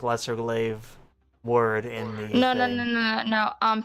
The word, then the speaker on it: glaive: Yeah, so I want to use the lesser galve. What is it called? The galve. Yeah, your How do you glaive. say that? It's pronounced glaive.